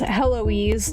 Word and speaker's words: Hoise: So, this is uh also named pronounced Hoise like Eloise but with an H the beginning.